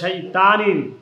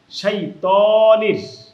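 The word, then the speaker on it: الشيطان: বিল্লাহি মিনাশ শাইতানির, অনেকে বলে শাইতানির, না তানির হবে না, তনির, শাইতানির। এটা হচ্ছে ত, আর এটা হচ্ছে তা। আরবিতে ত তা প্রায় কাছাকাছি উচ্চারণ হয়, আমরা এখানে বলবো ত, ত।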